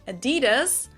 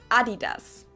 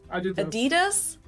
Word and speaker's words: Adidas: were referring to because they usually pronounce it Adidas, and in Germany we say Adidas. Adidas. Super different.